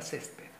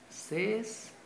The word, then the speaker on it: césped: En la penúltima sílaba, porque si fuese la mayor fuerza de voz o sílaba tónica acá, fuese césped.